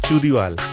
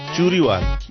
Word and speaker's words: Churiwal: Hey, it's not Chudiwal, it's Churiwal.